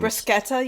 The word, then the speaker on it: bruschetta: all here we go so the brushetta and brusketa you mean some people pronounce it brusketa um it was there